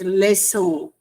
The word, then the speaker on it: leçon: If I read like this, leçon, without this mark it can be lekon, but we use it as leçon.